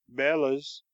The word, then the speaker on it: bellows: a pair of bellows I know a man who always caused them Bela's which is I believe the professional pronunciation he also talks about